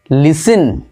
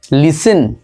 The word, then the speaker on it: listen: তারপরটা দেখো লিস্টেন, ওকে LISTEN, এটা হবে লিসিন, অর্থাৎ এখানে টি উচ্চারণ হবে না, লিসিন।